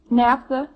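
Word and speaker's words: naphtha: NAFTA. How's that? NAFTA. How? Well, spell it like you'd pronounce it now for me.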